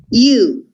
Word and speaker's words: you: You, che vuol dire tu, you, come se la O non ci fosse. Succede spesso in inglese che alcune lettere non si pronunciano. In questo caso la O non si sente.